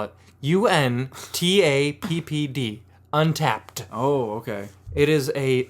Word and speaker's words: Untappd: Well, since he's stalling, I'll spell it. UNTAPPD. Untapped.